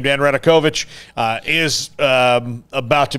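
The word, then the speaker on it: Radakovich: way before we get to that uh dan radekovich is how you say his name dan radokovich uh is um about to be officially on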